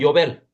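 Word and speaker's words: יובל: 그러니까 히브리어로는 요벨. 저 나팔절에 나팔을 부는 나팔 이름이 요벨이죠. 요. 거기서 영어식 발음이 주빌리가 된 거죠.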